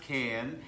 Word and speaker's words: Cannes: And the name of our show is From Cannes, yes, it's pronounced Cannes, Yes.